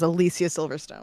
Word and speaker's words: Alicia Silverstone: And I'm saying it the right way. Her She has gone on record to say her name is Alicia Silverstone.